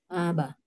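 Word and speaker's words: أبا: Aba. Nah, Aba. sip, mantap ya. Jadi aba ya. Karena apa? Karena ada tanwin fathah di ujung kalimatnya ya. Yang dimana ketika diwakafkan maka dia dibaca 2 harokat ya.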